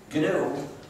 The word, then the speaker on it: GNU: GNU, and that's the right way to pronounce it, is a recursive acronym.